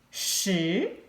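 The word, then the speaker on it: 十: number ten number ten shi it's a rising tone a second tone rising tone as we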